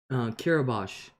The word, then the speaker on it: Kiribati: Sarah said, Kiribati, pronounced Kiribati, Pacific Island.